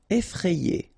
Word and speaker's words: effrayé: Effrayé. Okay, remember, double F, so you open the E, so effrayé. And here you get this frayé, effrayé. Effrayant.